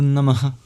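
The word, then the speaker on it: नमः: Namaha has a very interesting sound at the end, which is an expulsion of breath. And when it's before a voiced sound, it turns into the labioguttural vowel O.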